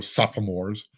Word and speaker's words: sophomore: someone who's going to push the four super sophomores by the way that was for you Juan